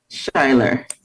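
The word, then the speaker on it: Schuyler: And the proper pronunciation is Shiler.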